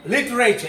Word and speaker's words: literature: the sound Lita here the very R sound should be orbited should be omitted it should not be sounded it should be literature it should be literature